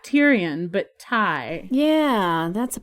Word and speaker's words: Tyrion: liked Olenna and Brienne for girls, Theon and Tyrion for boys. I guess you can see my clear naming preferences. I can't believe the name Tyrion, it's pronounced Tyrion, hasn't taken off.